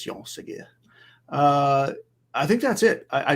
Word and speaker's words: Jean Segura: So Jean Segura. You don't really pronounce the A. It's just Jean Segura.